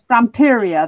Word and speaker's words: Stamperia: I love the graphic 45, but at the moment, ladies, I've got into is it Stamperia? I don't know how you say it. Stamperia, that's it.